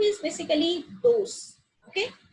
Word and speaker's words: dos: Yeah, the alphabet D is pronounced as like the. Okay, the. Like the Hindi letter, that is the. So dos. The. Dos.